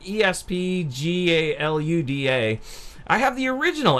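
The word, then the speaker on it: ESPGaluda: titles galuda - and I always pronounce that wrong it's like ESP GA Lu da I have the original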